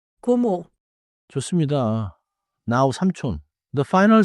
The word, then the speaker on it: 고모: The first syllable is go, not 코. 고모.